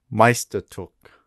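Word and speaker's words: Meisterstück: read this and tell me what how you pronounce it and what language do you think it is Meister took German obviously I think Meister yeah okay yeah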